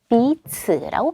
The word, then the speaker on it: 彼此: 그 다음 네 번째 제시어는 명사로 피차, 상호, 서로 비츠라고 발음을 하죠.